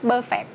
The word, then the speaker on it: perfect: Mọi người đọc là perfect, perfect. Không có perfect vậy đây ha. Nó nhấn âm 1 và nó sẽ là perfect, perfect, perfect, perfect.